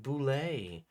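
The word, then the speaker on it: Bulette: Next up, we have the Bullet. Although all of you old school people are gonna tell me it's pronounced Boulet. Uh, because that's what I hear constantly. I just will remind everyone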